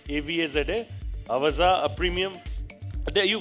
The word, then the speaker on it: Avaza: Sunitha ji recently launched Avaza. That is how it is pronounced. AVAZA.